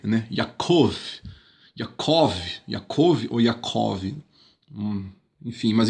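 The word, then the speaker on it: יעקב: is a consonant, and Note que o iod está no começo da sílaba, então por isso é uma consoante, Ya. the wa is in Agora o vav, Wa, the middle of a syllable está no meio da sílaba, and is therefore a vowel. portanto é uma This vogal? Ficou com som de O, né?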